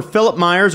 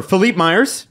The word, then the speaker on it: Philippe Myers: traded to nashville for philip myers or philippe myers depending upon who's is saying the name it's spelled philippe it is spelt philippe and i prefer philippe it sounds happier um yeah philippe will